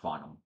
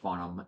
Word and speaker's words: Farnham: That H is definitely silent in his name, but let's get an education on this, and we'll go full.